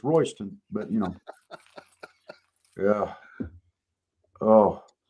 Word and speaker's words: Royston: And that's that's pronounced Royston and it's and it's spelled Royy's ton, you know, like it belongs to somebody, but it's Royston, but you know.